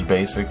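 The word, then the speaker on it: Bazic: Well, the brand is Basic, B-A-Z-I-C, Basic. It's a SPRI brush, spray I suppose they pronounce it.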